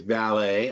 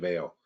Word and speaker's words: Vale: because now now now two people have told me to say valet instead of veil which I don't like I like Veil better but it's valet is the correct pronunciation um this is our